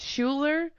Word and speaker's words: Schuler: gonna go ahead and say that's Schuler and it rhymes with Mueller good on you thank